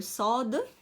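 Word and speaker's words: ص: Sod. Hein, bien, il faut bien prononcer la lettre Sod parce que c'est une lettre grave.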